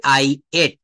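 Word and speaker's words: ate: আর যদি বলা হয় আমি খেয়েছিলাম, তখন দিতে হবে আই এট। এটা অ্যাড বলি, কিন্তু অ্যাট না, এটা উচ্চারণটা হবে এট।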